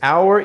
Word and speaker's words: hour: Hour e hour, mesma pronúncia.